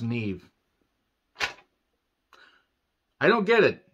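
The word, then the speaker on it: Niamh: did you pronounce this it was n i a m e or H but it was pronounced Neve I don't get it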